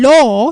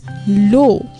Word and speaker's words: law: it as strawberry or if you're saying law which is the correct way some people might be pronouncing as it as low in fact low l o w is a completely different word by itself right no